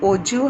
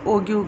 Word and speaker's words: ogive: OGIVE, इसको ना ओजिव हम प्रोनाउंस करते हैं, actually ओजिव इट इज़. But some students what they do ना, GIVE है तो गिव ऐसे प्रोनाउंस करते हैं. So what they pronounce ओगिव graph है ना.